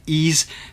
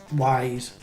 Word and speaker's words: Ys: far as i'm concerned i would either say it's ease or wise and as you see